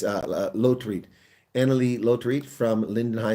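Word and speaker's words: Lotriet: I almost got it wrong. It's Lotreat.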